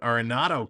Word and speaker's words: Arenado: Endo coming to Anthony Bass he comes in aronado that's how you pronounce it Arenado coming in with two Runners on Runners on